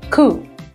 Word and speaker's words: coup: Another word that comes from French is a word coup, where you don't pronounce P in the end.